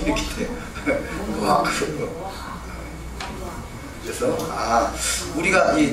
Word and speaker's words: 노아흐: 나서 좀 불편하긴 합니다만 노아흐 전혀 들어보지 못한 이름 같은 그런 발음이 나옵니다. 그리고 제가 어느 본토 발음은 아닙니다. 그렇게 다르구나 라고 이해하는 정도만 되겠습니다. 노아흐 이렇게 돼요. 노아흐.